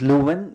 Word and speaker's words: Leeuwen: His name is Lewin, but it's spelled as L-E-E-W-E-N, so van der Leeuwen.